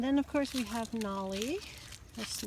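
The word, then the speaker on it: Nalle: And then, of course, we have Nolly. His name is spelled N-A-L-L-E.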